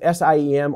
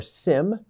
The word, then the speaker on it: SIEM: VPN, this is pronounced SIEM or SIM, and then UBA.